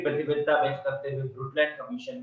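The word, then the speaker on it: Brundtland: ब्रुटलैंड में N silent है, एन और डी दोनों साइलेंट है, ब्रुटलैंड बोला जाता है।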